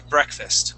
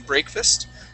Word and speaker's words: breakfast: Next word here is breakfast. Okay. This is going to be a short E sound. So instead of saying breakfast, okay, breakfast. Okay. Breakfast. There you go.